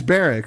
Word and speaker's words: Berwick: I have to pronounce the W. It's Berwick, right? It is Berwick.